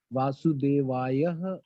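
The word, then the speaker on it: Vāsudevāya: Vasudevaya should be pronounced as Vasudevaya, or is it just Vasudevaya?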